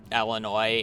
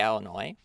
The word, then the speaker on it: Illinois: Illinois or did I did I add an S I'm so used of adding it I feel like that's just my pronunciation of words just being bad more so than me doing it on on purpose ell noise get I add the ass don't forget about the ass I'm so glad you're